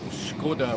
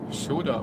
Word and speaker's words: Škoda: So a Czech person would pronounce it Škoda with Škoda. Metal. No. Oh, the sad song. Saddest song ever. Shoda without the K.